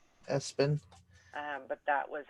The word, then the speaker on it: ESPN: They pronounced it Espen. Espen.